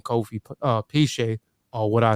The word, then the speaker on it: Piesie: you know I choose the name Kofi uh piche or what I say you know it's it's pronounced piche but I've been mispronouncing it for so long and everybody just say pie sauce everybody and um you know I did my